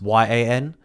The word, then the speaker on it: Jan: Alright, my real name is Jan, which is spelled Jan. But it's pronounced Y-A-N. So people always mispronounce my name. So they call me Jan, they call me Jan.